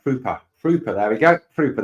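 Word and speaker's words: Pröpper: John says 2 dots above his name in the O makes it pronounced like Prupper.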